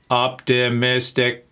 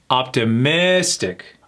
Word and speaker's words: optimistic: Now, this has four syllables. Let me say it like a robot. Optimistic. What syllable do we emphasize? That's right. It's a third syllable. Optimistic.